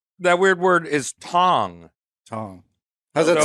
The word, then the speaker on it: tong: weird word is Tong tongue how's that spelled a t-o-n-g okay phonetically tongue like a tongue you would uh pick a cheeseburger up with yeah like cheeseburger most